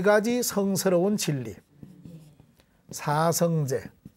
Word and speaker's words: 사성제: 그러면 왜 사성채라고 안 하고 제라고 하느냐? 우리가 지난번에 또 배웠습니다. 우리 불교에서는 원래는 태권도 도장, 도장할 때 이렇게 써가지고 원래는 도장인데 우리 사찰에서는 불교에서는 이걸 도량이라고 읽습니다. 도량. 그지요? 자, 이것을 도장이라 하지 않고 도량이라고 읽듯이 이 사성제도 그냥 사성채로 읽지 않고 사성제로 읽는다. 아시겠지요?